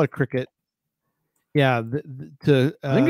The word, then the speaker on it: Cricut: dave although we know what you mean it's cry cut right c-r-i-c-u-t i have no idea i think it's cry cut you would probably c-r-i-c-u-t uh we call it cricket yeah i think it's pronounced cricket but it's